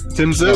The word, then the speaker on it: Tim Tszyu: You got it right, Tim Tszyu.